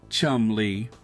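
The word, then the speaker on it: Cholmondeley: she is properly known, the Marchioness of Colbert, pronounced Chumley.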